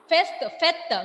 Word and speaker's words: fête: Fête means festival or party. Fest. In English, in French, pronunciation of this word is fête.